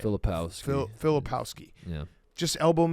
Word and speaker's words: Filipowski: Filipowski.